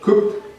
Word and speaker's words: cooked: También puedo decir con la pronunciación de la ed como una t, cooked.